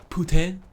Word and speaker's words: putain: Technically, it's not pronounced poutine, it's actually pronounced putain.